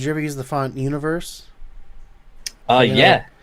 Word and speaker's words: Univers: Did you ever use the font Universe? Yeah. It's actually Yeah, pronounced Universe.